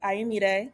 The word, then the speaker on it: Ayomide: So Ayomide.